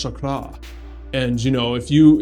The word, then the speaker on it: chakra: deep spiritual topics like a chakra that's actually pronounced chakra and you know if you you should respect